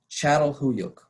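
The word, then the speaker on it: Çatalhöyük: screen first that difficult to spell word is pronounced channel huyuk and it's in present day turkey this is what it looks like excavations at chatel huyuk began in 1958 and we know from those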